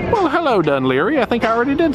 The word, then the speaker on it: Dun Laoghaire: right thank you we have made it to dunleary well hello dunleary I think I already did say hello to you but hello again there we go it's pronounced dunleary y'all this is probably the windy little trail